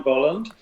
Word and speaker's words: Bolland: my name is brian bolland and well done for pronouncing it correctly most americans and canadians i assume don't quite know how to pronounce the first vowel in my surname but uh yes um